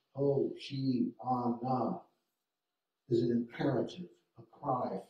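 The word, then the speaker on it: הושענא: He comments, the word Hosanna, the Greek writing of the Hebrew verb from the Psalm save, the Hebrew Hosanna, pronounced Hoshi-ana, is an imperative, a cry for help.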